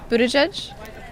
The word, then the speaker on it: Buttigieg: right well there you go how do you pronounce mayor Pete's last name Buddha judge okay that's that that I think we we're